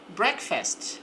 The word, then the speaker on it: breakfast: I eat breakfast before school. Então, eat é do verbo comer, às vezes adaptamos também para tomar. Tomo café da manhã. Breakfast. Observe que aqui a pronúncia é aberta, breakfast.